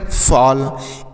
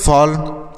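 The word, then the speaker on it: fall: हाल क्या पढ़ना हाल एफ A double L फॉल एफ A double L फॉल टी A double L toll T A double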